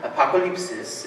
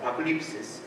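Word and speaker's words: ἀποκάλυψις: It's a Greek word. It's Greek in origin. Apokalypsis is how you kind of pronounce it. Apokalypsis.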